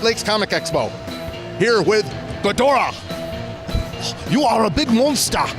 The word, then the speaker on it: Ghidorah: Jeremy, and he's dressed as Ghidorah, that's the Japanese pronunciation for Ghidra that we know here in the United States.